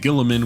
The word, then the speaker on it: Guilliman: Primarch of the Ultramarines Roboute Guilliman, which is apparently his how his name is actually pronounced, had his pod hurtling out towards space and crash landing in Macragge.